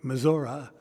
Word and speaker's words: Missouri: Missouri. Mazzora is the way they pronounce it.